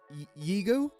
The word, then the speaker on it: Yigo: We are going to go in Yigo. That's how you pronounce it.